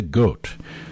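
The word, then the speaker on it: Goth: a part handled by Mia goat oh that's spelled g t h g t h and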